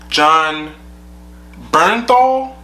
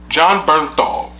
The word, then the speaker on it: Jon Bernthal: John, how do you pronounce his name? All right. Jon Bernthal? Jon Bernthal, the guy that played the Punisher.